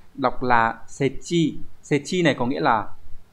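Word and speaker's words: 設置: Từ số 2 đọc là setchi.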